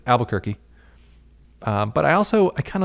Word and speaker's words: Albuquerque: in oklahoma and then albuquerque or as they pronounce it albuquerque alba not albu or albu it's alba which i'm on the